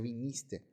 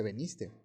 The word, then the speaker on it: viniste: viniste, que en realidad la pronunciación correcta sería viniste. Mucha gente dice veniste.